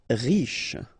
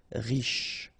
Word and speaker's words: riche: Riche. Final E not really pronounced, so sh is the last sound. Riche.